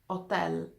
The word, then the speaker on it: hotel: thing is that H letter akka letter H is silent in fact you heard me saying instead of hotel I said 10 this means that akka is the only letter